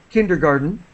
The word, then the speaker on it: kindergarten: her son to kinder kindergarten we don't really pronounce the T kindergarten and uh she's terrified